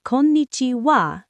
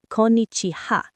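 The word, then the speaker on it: こんにちは: It's spelled with ha at the end, but you pronounce it wa. So it's Konnichiwa, not Konnichiha.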